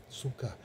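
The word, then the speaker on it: сукка: Ударение на первый слог – сука. Сука – на второй слог. Извините, на второй слог – сука.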